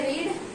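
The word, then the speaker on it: read: जो रीड होता है, रीड के तीनों फॉर्म के जो स्पेलिंग है वो सेम है, बस प्रोनाउंस अलग करते हैं। इसको पढ़ेंगे रीड, ये होता है आपका रेड और ये भी होता है रेड, ठीक है।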